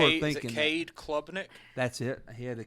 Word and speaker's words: Klubnik: Is it Cade Klubnik?